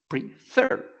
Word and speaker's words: prefer: so in this case the pronunciation is PR Fair the accent the stress is in the last syllable prefer therefore we double this